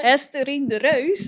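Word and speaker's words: Hesterine de Reus: The Ajax coach, her name is Hesterine de Rouse. I think Tammy will say it better. Beautiful The pronunciation. Dutchie will say it better. Estherine de Reus.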